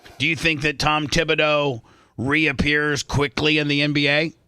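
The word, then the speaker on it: Thibodeau: How do you say his last name? Tom Tibido.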